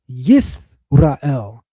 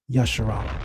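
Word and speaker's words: ישראל: That word sarita is just an S, not an SH. This is why we pronounce the name as Yisrael, and certainly not Yasharal.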